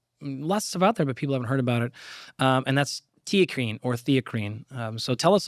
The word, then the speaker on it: theacrine: So it's spelt, by the way, here, it's like one H versus the not Yes. H in there, very, basically. Very similar. Like T, like TEA. Yeah. CRINE. Right. TeaCrine.